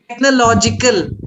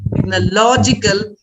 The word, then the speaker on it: technological: an adjective form suppose you say the technological which is the adjective form then you don't stress on or use technological stress on law make it longer you prolong technological biological theological so then